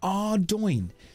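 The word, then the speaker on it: Ardougne: Ardoin. Everyone takes the piss out of me, and I've been saying, look, it's pronounced Ardoin. That's how you pronounce it.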